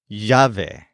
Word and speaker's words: llave: possible at lunch the word for key is jave this is a feminine noun and it's spelled l a v e jave for example